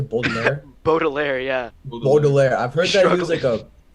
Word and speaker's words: Baudelaire: How do you say Baudelaire?